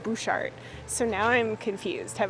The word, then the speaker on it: Butchart: on their website that it's Butchart Gardens like Butch Cassidy but then everyone here keeps calling it bushart so now I'm confused